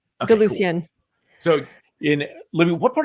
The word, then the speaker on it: DeLucien: It's DeLucien, right? Am I saying it correctly? Okay, DeLucien.